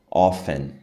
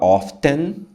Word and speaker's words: often: desse significado, qualquer sinônimo, often, tá? Eu, você pode falar, tem gente que fala often, often, tem gente que fala often, não tem certo e errado, tá? Os dois jeitos estão certos.